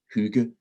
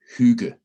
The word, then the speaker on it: hygge: a couple of times the two g's kind of create a soft sound and my definition of